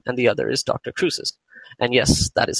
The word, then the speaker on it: Cruces: Cruces. And yes, that is how you pronounce his name.